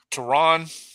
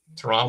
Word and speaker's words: Tran: Tron, is that is that how we supposed to say it? Tron Watson. Tran Watson. Yeah. Make sure you say it right.